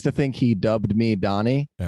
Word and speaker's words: Dani: it Danny is it Daniel it's uh Donnie actually Donnie okay yeah why does everything say that I do my best to confuse everybody okay it's pronounced Donnie but it's spelled D N I yeah okay okay because